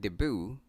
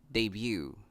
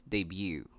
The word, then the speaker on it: debut: A lot of us pronounce this word debut, but the correct way to say this is debut. Again, it's debut.